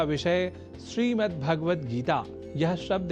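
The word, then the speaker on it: श्रीमद्भगवद्गीता: यह शब्द ही है जैसा कि मैंने उच्चारण किया, श्रीमद् भगवद गीता, जिसे अनवधानतावश हम श्रीमद् भगवद गीता या श्रीमद् भागवत गीता या भागवत गीता कर जाते हैं, जो सर्वथा अशुद्ध है।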